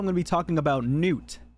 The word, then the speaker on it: Gnut: to be talking about Newt no it's not nut it is Newt like n-e-w-t except it's spelled g-n-u-t I know weird weird